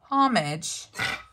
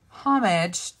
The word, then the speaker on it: homage: little corner here that's paying homage or homage depending on if you feel like um pronouncing the h today this will kind of